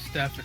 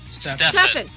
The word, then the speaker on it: Stefan: Stefan. Stefan. I've been saying it wrong both ways. Ugh, Stefan. There we go. It has an F. It's pronounced like an F.